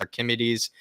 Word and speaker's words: Archimedes: It's Archimedes.